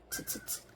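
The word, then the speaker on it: つ: 그래서 츠츠츠 걸어간다. 츠 츠 츠 이제 추 같은 경우도 추와 츠 사이 발음이므로 입술은 쭉 되밀고 추처럼 입술을 만들어 주시되 음성은 츠 소리를 내 주시면 돼요.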